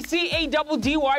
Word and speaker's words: Caddy: It's your boy C-A-D-D-Y, pronounced Caddy, yet again running the streets of Johannesburg on another mission.